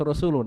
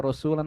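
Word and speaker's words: رسولٌ: juga terken hukum Rafa makanya bacanya harus rasulun gak boleh dibaca rasulan atau rasulin jadi Walau kalau ada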